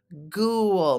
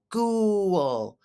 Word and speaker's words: ghoul: it's not it's pronounced ghoul make the ooh got it the GH is a hard G ghoul what's a ghoul a